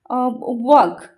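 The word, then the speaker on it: walk: letter का हमें लिखवा फॉर एग्जांपल वर्क वर्क हमें लिख के डब्ल्यू ए एल के वर्क बट हमें प्रोनाउंस के करचे वर्क हमें एल को प्रोनाउंस करचे की व्क व्क एम कहचे की नो हमें कौन कहचे वर्क तो हम को साइलेंट गला को हम सुना गला नहीं एल लेटर हम सुना गलानी तो एल लेटर हम साइलेंट गगला सेमती ए दे ग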